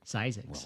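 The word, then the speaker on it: Zzyzx: Road ah thisx our our old friend zyx is how it's pronounced ZX well after 40 some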